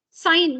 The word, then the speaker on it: sine: The full forms are sine with an E. The pronunciation doesn't change. The spelling is different.